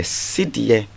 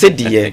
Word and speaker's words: cedi: So in 1965, we had the cedie, which was the symbol. I like the way you're pronouncing it. That's more authentic. Yes, cedie.